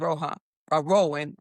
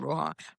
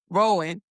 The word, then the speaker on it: Rowan: So Flare was co-founded by Hugo Filion and Sean, one way you pronounce it, Sean Asim Rowan. I'm not saying Rohan. Rowan, and then Dr.